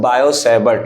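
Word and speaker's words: Biot-Savart: से बटला ठीक है यहां पर बेसिकली टी है आपका साइलेंट ठीक है तो कहीं-कहीं आपको अगर देखने को मिल जाए टी तो आप उसको कंफ्यूज ना होएगा बेसिकली पढ़ते हैं इसको बायो सेबर्ट ला ओके सबसे पहले मैं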